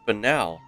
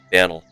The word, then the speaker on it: banal: an eye on it oh it's pronounced banal I never knew how to pronounce that word I always called it Daniel not to mention that